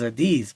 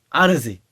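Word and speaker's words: Audeze: to pronounce it right I thought it was a these but it's Odyssey and the headphones were crucial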